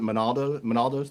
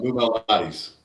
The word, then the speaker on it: Lou Malnati's: She took us out to lunch, and it was the first experience with it was what is it, Monaldo's, Louis? How do you pronounce Oh, it? Lou Malnati's.